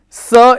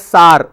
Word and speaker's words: sir: Don't pronounce that as sar. Sar I have a question. Sar is s a r. So don't say sir, I have a question. It's not s, it's sir.